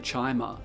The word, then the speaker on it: Chimer: cursed race called the Chimer. On a brief side note, I know that Chimer is pronounced chimer in ESO, so you can decide whether ESO counts as lore in your books.